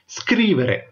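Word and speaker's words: scrivere: Okay, இந்த வீடியோல நாங்கள் பார்க்கக்கூடிய முதலாவது வினைச்சொல் ஸ்கிரீவரே. ஓகே, ஸ்கிரீ அப்படின்னு சொல்லி நீங்க உச்சரிக்க வேணும். SCR வாரத்தை ஸ்கிரீவேரே, ஸ்கிரீவேரே. ஓகே, வே என்று வரும் பாருங்க. ஸ்கிரீவரே அப்படின்னு சொல்லி நீங்க வாசிக்க கூடாது, ஸ்கிரீவரே.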